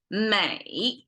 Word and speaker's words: 美: unpack it in this way in two characters Mei is the pronunciation and it essentially means Beauty um and